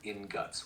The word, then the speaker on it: ingot: do you pronounce ingots it's usually pronounced inut with a soft G but either way you're